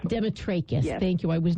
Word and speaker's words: Demetrakis: I'm so pleased to say hello to Demetrius hi hello Mary how are you well